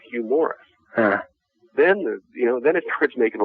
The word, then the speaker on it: Hugh Morris: Hugh Morris.